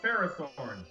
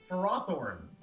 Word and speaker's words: Ferrothorn: know, many people call this Pokemon Ferrothorn. His actual pronunciation, Ferrothorn.